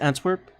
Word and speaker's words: Antwerp: Is that how you pronounce it? Antwerp?